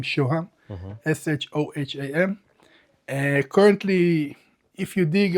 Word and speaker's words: Shoham: Shoham. Okay. My name is Shoham, is the Onyx stone in Hebrew.